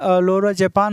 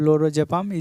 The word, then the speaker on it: Lorazepam: बात करने वाले हैं 81 जो होता है लोरो जपान होता है लरा जपान मतलब लोरो जपाम स्पेलिंग भी रंग है रुकिए मैं अ भी